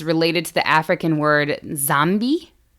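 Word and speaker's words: Nzambi: The word zombie is related to the African word zambi, which has an N in front of it. Sounds like I just said zombie twice, but there's a silent N.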